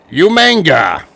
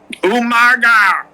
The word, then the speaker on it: Umaga: It was the Battle of the Monsters as Umanga. Umaga. You know why I pronounced it like that?